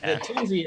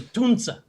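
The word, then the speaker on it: Tunze: No, but the Tunzi is actually Tunza.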